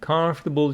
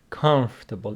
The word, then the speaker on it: comfortable: blue pants and and comfortable shoes please pronounce this word correctly comfortable comfortable it's not comfortable comfortable comfortable shoes